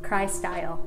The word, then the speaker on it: Kry-Style: right get the cry how do you pronounce it cry style get the cry style experience yeah uh yeah